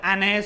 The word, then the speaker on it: Anne: Okay, Anne Sullivan, not Anne Sullivan. You should pronounce A-N-N-E as Anne.